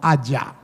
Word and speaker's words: haya: Por ejemplo, uno aprende a corregir que no se dice haiga, sino haya.